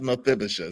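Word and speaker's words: Mephibosheth: It's not spelled like it sounds.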